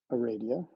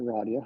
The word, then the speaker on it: Aradia: And in my experience, I met Aradia, or Radia, however you prefer to pronounce it.